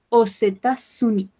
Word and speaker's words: aux États-Unis: Como este sustantivo comienza por vocal, yo puedo pronunciar esta X. Je vais aux États-Unis. Acá también hago un puentecito.